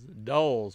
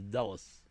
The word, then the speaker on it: Dulles: wasn't in uh I didn't know how to pronounce it I thought it was dolls but it's Dallas hmm all right so let's see I've never